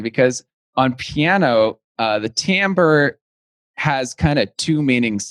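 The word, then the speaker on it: timbre: real good question because on piano uh the tamber has kind of two meanings to me it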